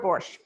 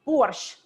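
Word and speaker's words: borscht: at the end so when you say borsch in russian it almost sounds like you're ending with the letter t so i think in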